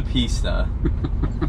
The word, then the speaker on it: pista: that watches our videos we know it's a pista I just accidentally said pissed at once and got made fun of for it I have no room